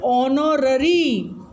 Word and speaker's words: honorary: Next is work for which no salary is paid is called honorary. Remember here H is silent, it is called honorary.